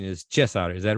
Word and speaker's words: Cezar: he said it was okay to call him Caesar uh iliesco but uh the real pronunciation is chess outer is that right absolutely are you sure absolutely